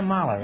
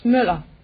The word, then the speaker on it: Müller: Nina Moeller, is that right? No, it's Müller. It's what? Müller. How do you spell it? M-U-L-L-E-R. M-U-L-L-E-R. What kind of a letter is It's Ö. It's an O with a line through. Oh. It's pronounced Ö.